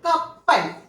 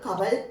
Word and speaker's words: കപ്പൽ: For example കപ്പൽ നോക്കിക്കോളൂ. ഇങ്ങനെ എഴുതിയിട്ടുണ്ടെങ്കിൽ ഈ പാക്ക് നമ്മൾ കവൽ എന്നേ വായിക്കുള്ളൂ. അപ്പൊ ഇവിടെ പാടെ ഉച്ചാരണം വരണമെങ്കിൽ ഒരു പാവും കൂടെ നമ്മൾ ഇവിടെ എഴുതി കപ്പൽ എന്ന് വായിക്കണം. ഓക്കെ, അപ്പോൾ എന്തിനു വേണ്ടിയിട്ടാണ് ഇരട്ടിപ്പുകൾ എന്ന് പറഞ്ഞത്?